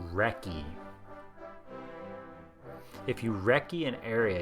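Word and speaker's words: recce: how to say it it's oldfashioned British pronounced wrecky if you wrecky an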